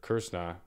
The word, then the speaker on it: Kr$na: interview with curse curt kirsna i can't pronounce that right so you're supposed to point your tongue towards the roof of your mouth and then the r the s and the n become vowels i believe i've kind